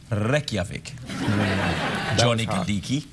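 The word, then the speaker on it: Reykjavík: no no wait it's capital city is reik pronounced reik johi um so here's the question yeah the idea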